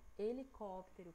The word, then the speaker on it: helicóptero: A gente percebe que a sílaba mais forte é o cop, cop, né?